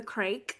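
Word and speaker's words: craic: She hosts the annual What's the Crake St. Patrick's Day show at Yeah, Union what's Hall. crack? It's pronounced like crack.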